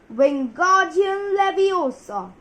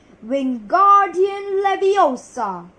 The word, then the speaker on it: Wingardium Leviosa: "Wingardium Leviosa!" he shouted, waving his long arms like a windmill. "You're saying it wrong," Harry heard Hermione snap. "It's Wingardium Leviosa. Make the gar nice and long."